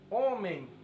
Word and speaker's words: homem: Já o homem, não, porque o EN tem som de EN. É como se fosse amém, homem.